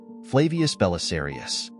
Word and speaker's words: Belisarius: this era Flavius Belisarius his name in Latin is pronounced" Flavius Belisarius" Belisarius was born in